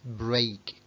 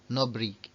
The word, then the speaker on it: break: broken está cuidado que se pronuncia break break break como la serie de televisión Prison Break se le parecerá también